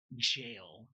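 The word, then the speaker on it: gaol: and um you think of and the word jail g a o l that's not how that's spelled it is that's G depends on the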